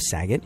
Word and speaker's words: Saget: The most hilarious comedian on the face of the planet whose name rhymes with gay slur, Bob Saget.